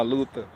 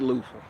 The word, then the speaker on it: Luther: applied for a job, we not about to pronounce the TH. Nah, Luther. The fuck? Luther. Luther. Luther Vandross. It'll be pronounced, but you just won't pick up on it because it's subtle.